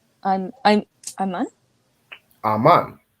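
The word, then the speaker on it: אמן: any Hebrew word from these letters I'm I'm Aman Aman right which means what oh when you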